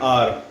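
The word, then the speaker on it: hour: Next, they return after dash R, after an R. H is silent, so we'll be using here N.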